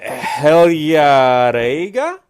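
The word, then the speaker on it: Heljareyga: okay I'll try a hell yeah raiga yeah it's just a soft G like if the you turn the G into a why hell yeah yeah then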